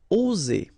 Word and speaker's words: oser: Okay, it's interesting here because you've got only one S between two vowels, and normally the pronunciation you will get when you get only one S, it's Z, okay? Oser, alright? If you would have deux S instead, you will pronounce it ose, okay? But in that case, you've got only one S, and that's the rule. One S between two vowels will produce the sound Z, oser, okay?